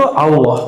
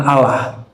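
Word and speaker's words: الله: Tapi antara a dan u itu Allah. Jadi cara baca Allahnya gimana? Bukan Allah. Allah. Jadi A tapi cenderung kepada U. A cenderung kepada U bukan Allah tapi Al Allah. Bacanya A tapi lidahnya ngarah ke U.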